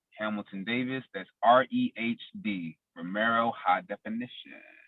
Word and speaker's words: REHD: That's REHD. Romero High Definition. REHD. H is silent.